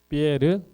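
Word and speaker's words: Pierre: 근데 프랑스 사람들은 피에트로 하면 물론 아는 사람은 아는데 프랑스 사람들은 그렇게 발음 안 합니다.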